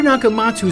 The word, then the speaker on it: Nakamatsu: to remember but he still wants you to pronounce it you got a duck dr. Nakamatsu score key inventions brought him worldwide recognition inventions